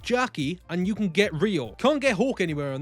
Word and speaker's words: Leo: Now, in everything I found online, his name is spelled Leo, but they pronounce it in the English dub as Rio.